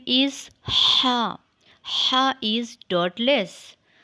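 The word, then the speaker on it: ح: letter name is ha ha is dot less a similar shape ha is a light sound later it is pronounced from the middle of the throat so read after me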